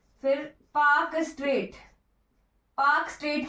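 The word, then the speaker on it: Palk Strait: फिर पाक स्ट्रेट, पाक स्ट्रेट की ये स्पेलिंग होती है PALK।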